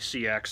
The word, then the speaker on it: seax: it asked me pronounced Sachs I think I think the Old Norse pronunciation is sex in the anglo-saxon our Old English pronunciation is actually C X so either way you say it's fine there anyway nice-looking knife